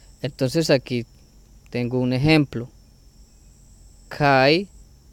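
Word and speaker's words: καί: Kai, que se pronuncia que.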